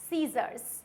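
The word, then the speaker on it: scissors: है तो ये होगा हमारा साइंस ये होगा सीजर्स क्या होगा सीजर्स नेक्स्ट आता है डिसिप्लिन क्या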